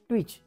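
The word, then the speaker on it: twitch: इ आणि हा च ट्विच आता तुम्ही म्हणणार सर हा टी याचा उच्चार काढला नाही सर तर हा आहे सायलेंट सायलेंट म्हणजे काय की याचा या स्पेलिंग मध्ये उच्चार होत नाही असे बरेचशे शब्द आहेत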